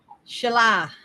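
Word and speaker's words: Síle: it said celtics here it's spelt s-i-l with the little thing over it and e but how how's it pronounced is it chalet or with a ship or i i love that name that is gorgeous i need to write it down but how's it pronounced shalah pronounced sure i love it and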